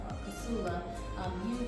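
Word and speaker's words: Kossola: since you since you can't say my name Casula or Casula.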